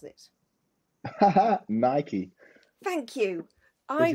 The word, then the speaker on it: Nike: with an N how do you pronounce it Nike thank you I pronounce it Nike and every time I say it my kids go it's Nike it's not Mike I'm gonna tell them yeah